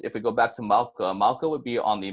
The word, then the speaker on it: mauka: are going to be mauka first which is pronounced mauka and then after that we have mkhaya and